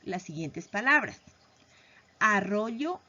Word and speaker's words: arroyo: En este caso, lo más correcto es pronunciar arroyo, pero muchas de las veces por hablar rápido pronunciamos arroyo.